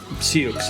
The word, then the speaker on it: Sioux: through this disaster the sioux village is uh situated on an old abandoned united fruit plantation which is where it got its name though pronounced sea oaks in spanish it's one of several